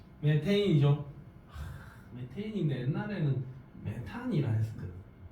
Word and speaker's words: 메테인: 이름 뭐라고 ch4 메 메테인이 메테인 있데 옛날에는 메탄이 했었거든 메테인 있니다 독일식으로 읽으면 메탄이 영어식으로 읽으면 메테인이 되는 겁니다를 좀 거부해서